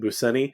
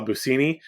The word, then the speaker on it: buseni: i am very happy you pronounced it busceni because i first seen this and i saw bussini and automatically i thought of steve buscemi and i was like